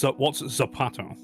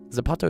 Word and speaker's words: zapato: What's Zapato? Uh, that's Spanish when they So, people in Spain pronounce it as a th in in Mexico and stuff. It's a z and that means shu. Zapato is shu.